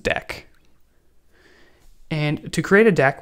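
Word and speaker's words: deque: I called this a a dq in the previous video, but whatever. I'm pretty sure it's pronounced deck.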